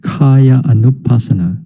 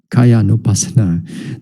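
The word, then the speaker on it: kāyānupassanā: the word is k-h-a-y-a sorry kaya anupasana not kaya nopasana there kaya is it's uh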